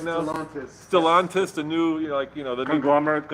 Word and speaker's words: Stellantis: Am I pronouncing that right now? Stellantis.